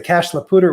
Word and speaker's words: Cache la Poudre: We for some reason somebody said let's keep the first part of the French pronunciation, but definitely not the second part. So it's the Cache la Poudre watershed.